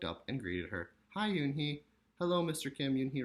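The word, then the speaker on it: Unhei: Kim and then turned to Joey she nodded slowly yes it's pronounced Yoon hee it means grace mr.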